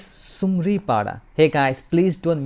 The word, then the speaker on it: Sumaripada: Not Chamdi, not Sumdi. It's Sumaripada.